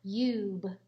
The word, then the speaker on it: cube: was no e but the silent e makes the you say its own name so cube so we have the